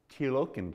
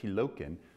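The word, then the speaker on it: Tielocken: And actually kind of interesting, in 1912, the Tilokin coat, that's how you say it, Tilokin, which is basically was the trench coat.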